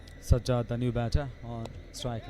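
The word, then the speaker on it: Sazzad: Sajjad, the batter, S-A-J-J-A-D, and the bowler Sajjad, S-A-Z-Z-A-D. But the pronunciation, that might be the same.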